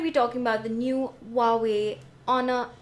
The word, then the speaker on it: Huawei: the Huawei honor 8 not Huawei but Huawei like w way honor eight I've been